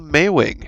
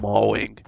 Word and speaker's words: Maewing: how to pronounce it it's like the month of may and then wing uh for some reason i wanted to call it a mauling but anyway so that